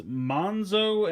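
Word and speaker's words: Monxo: This is Monzo and Wolfwire, although it's kind of written as Mon XO. I assume usually like in xylophone X is pronounced with a Z, so I'm assuming it's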